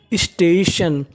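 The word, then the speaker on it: station: TION को हम लोग इंग्लिश में पढ़ते हैं शन, यानी कहीं पर आपको TION लिखा मिले तो आपको उच्चारण करना है उसका शन। देखिए पहली मीनिंग देखते हैं। STA, इसे क्या पढ़ेंगे? स्टे। क्या पढ़ेंगे? स्टे। TION, शन। तो मीनिंग बनी स्टेशन।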